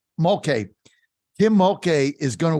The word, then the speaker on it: Mulkey: McCullough's, how do I say her name? I always Kim Mulkey. get it screwed up. Mulkey.